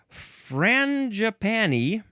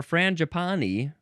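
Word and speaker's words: frangipani: If I just waited a second, we have Fran Japani or Fran Japani. And I assume also frani is fine too.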